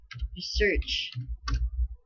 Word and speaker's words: research: Research. Yeah. The first and first syllable.